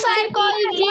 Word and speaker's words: psychology: मैं साइकोलॉजी में P silent रहता है।